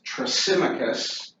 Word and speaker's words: Thrasymachus: His name is Thrasymachus, and it's spelled Trasymachus.